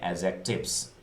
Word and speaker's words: adjectives: रहा है ना आपको, डी इसमें बोलने के टाइम में साइलेंट होता है, तो इसे हम बोलेंगे एडजेक्टिव्स।